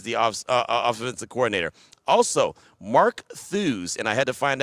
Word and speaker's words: Thews: Also, Mark Thews, and I had to find out exactly how to say his name. I found out rhyme with shoes.